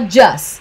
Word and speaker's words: just: Novamente, esse T do just, eu não pronunciaria, eu falaria só just, tá?